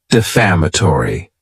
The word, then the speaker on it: defamatory: the word defamatory and this word has five syllables and the stress is on that second syllable defamatory it's not a good